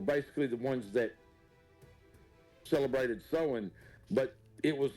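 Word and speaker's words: Samhain: notes and I never I've always called it Sam ha but when I started you know delving back into it that it's always being pronounce sewing and I'm like H that makes sense yeah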